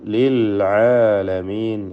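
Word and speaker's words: للعالمين: അൽ ആലമീൻ എന്നുള്ള ലാമു തഅരീഫാണത്. യഥാർത്ഥത്തിൽ ആ ലാമിന് ഇൽഹാർ ഖമരി എന്ന ഇൽഹാർ നൽകിയാണ് ഉച്ചരിക്കുക. വിശദമായി പിന്നീട് മനസ്സിലാക്കാം. ചുരുക്കി പറയാം, ലിൽ ആലമീൻ എന്ന് വ്യക്തമാക്കി ഉച്ചരിക്കുക. എല്ലാ വചനത്തിലും ഇപ്പോൾ 2ാമത്തെ ആയത്താണ് നമ്മളത്.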